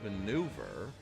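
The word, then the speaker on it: manoeuvre: Well, it is pronounced maneuver.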